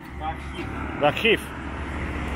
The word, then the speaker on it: Rakhiv: How do you pronounce Rakhiv? Rakhiv.